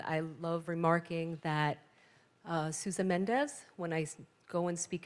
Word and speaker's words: Mendes: love remarking that susan mendes when i go and speak at schools the portuguese pronounce him susan menge right so at my